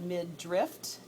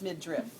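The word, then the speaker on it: midriff: a strip okay and it's spelled m d r i FF I just tell you that because some people call it mid drift some people call it midra it's mid driff just making sure m i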